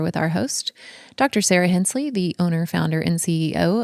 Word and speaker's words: Hensley: So it sounds as if it's spelled Hence with the LY on the end.